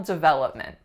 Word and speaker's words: development: on her personal development so let's look at the syllables duh that look men development what is the strongest syllable its syllable number two that what's happening with all three other syllables they are being reduced to schwa they are a really really short short vowel to look meant development what almost all of my clients safer this word is development but that is not